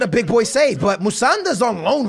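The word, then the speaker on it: Musonda: There's also another kid that's on loan, Musanda, right?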